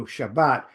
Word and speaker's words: Shabbat: If you see a double B, that's pronounced as a B. So Shabbat, spe has two B's.